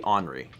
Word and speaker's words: ornery: That, I'll pronounce that two ways, actually. Sometimes I say ornery, sometimes I say ornery. And it is probably a 50-50 mix.